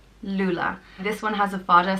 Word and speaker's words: Lúile: The next name is Lúile, and it means child with thick hair, and it's pronounced Lúile. Lúile.